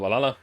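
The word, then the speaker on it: VA-11 Hall-A: know don't care Vala the name sounds silly and a bit hard to pronounce good thing it's actually uh uh called valala it's the funny numbers letters are just the code anyway I visited this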